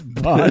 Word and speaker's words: Bane: just how it is you know it's not Bane it's Bon and nobody nobody gets it yeah it's Bon like Beyonce you know yeah like yeah just